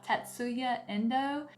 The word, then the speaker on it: Tatsuya Endo: damage this name too badly, but it's by Tatsuya Endo with Viz Media.